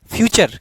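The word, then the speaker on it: future: टी यू आर ई इसको फटू नहीं पढ़ेंगे क्या पढ़ते हैं फ्यूचर क्या पढ़ेंगे भाई फ्यूचर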